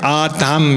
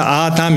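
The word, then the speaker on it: אָדָם: 여기 우리 한글의 이 우자에 동그라미 뺀 우자에 해당되는 발음이 아 발음이 납니다. 그래서 이것을 읽으실 때는 여기 알레프거든요. 아담 이렇게. 이게 미음하고 비슷하죠. 히브리하고 우리 한글하고 비슷합니다. 여기 디귿에 해당되고요. 그래서 아담 이렇게 읽고요.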